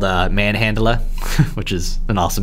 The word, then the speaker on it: Manhandla: I think it is Manhandla. It's like Manhandla or something. Yeah, it is. Manhandla. It's spelled like Manhandler, essentially.